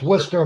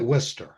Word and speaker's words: Worcester: It doesn't look like the way it's spelled that it should be the way they say it. Yeah. They pronounce it Worcester.